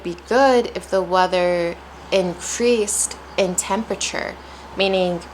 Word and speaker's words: increase: been an increase in heat the past few days.